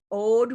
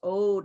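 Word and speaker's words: oud: Also new products and free offers in campaign 5 is the Lard Ode Rose. Ode, I think is how it's pronounced, O-U-D.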